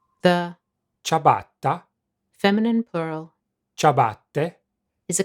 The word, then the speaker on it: ciabatta: In fact, the only relevant difference is that English speakers don't pronounce the double T. ciabatta, ciabatta.